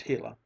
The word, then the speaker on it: Gila: sun Shone down on the hila monster pronounced hila it was no longer